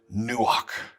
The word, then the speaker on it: nuach: how to pronounce it in english we don't have gutturals that ch on the end is kind of breathy back of the throat sound okay do not turn